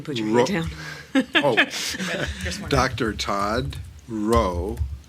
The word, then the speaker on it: Rowe: Todd Rowe silent w WRO Gaffin e G a F F a n ey thank you sir okay dr.